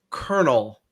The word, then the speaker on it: colonel: Colonel. There's no R in it.